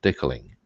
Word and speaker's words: decaling: I should pronounce that correctly, decaling. Declan is actually somebody's name.